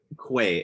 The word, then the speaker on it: qua: the science of being qua being, or que is how Sokolowski pronounces it.